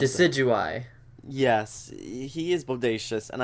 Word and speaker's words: Decidueye: How do you pronounce it? Decidueye.